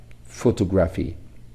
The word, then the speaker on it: photography: P is pronounced as P and H is pronounced as H. But when they come together, when we form a blending, so they get a third sound, F sound.